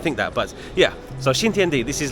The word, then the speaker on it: Xintiandi: Xintiandi.